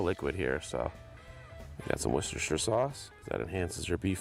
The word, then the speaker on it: Worcestershire: a little more liquid here, so get some Worcestershire sauce. That enhances your beef flavor, as well. Not the one I buy. Gives you a little umami. And it is pronounced Worcestershire. Worcestershire.